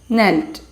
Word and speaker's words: knelt: the word nelt here k is silent you are supposed to say it knelt ashoka knelt down and